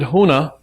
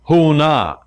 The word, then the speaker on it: Huna: for the philosophy is Huna big difference and the secret I'm going to share with you the secret is contained in the two syllables who and na because who is a